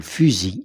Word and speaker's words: fusil: Fus physique le son Z Son Z. Pourquoi ? Parce qu'il se trouve entre deux voyelles fusil, un fusil.